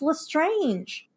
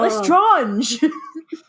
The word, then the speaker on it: Lestrange: every time I'm like it's Lestrange it's not less drawn you know what you're